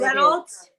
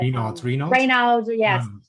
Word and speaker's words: Raynaud's: What Reynolds? Yes, syndrome. It's pronounced a little bit different, but Raynaud's Raynaud's syndrome is generally, ironically, linked more to hypothyroidism and an iodine issue.